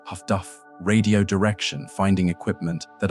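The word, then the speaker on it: HF/DF: Improved sonar and HFDFs are high frequency direction finding pronounced Huffduff radio direction finding equipment that allowed escort ships to locate Ubot by triangulating their radio transmissions.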